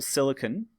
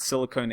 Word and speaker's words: silicone: Silicone, written with an E, not the metal silicon, but silicone. They actually, to be honest, they're both pronounced silicon, but I pronounce it silicone to help you remember.